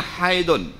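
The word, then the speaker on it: حيض: menyakitkan high dikasih bermula Hai itu Arab bacanya Hayden Melayu pakai high ah Putra sik neh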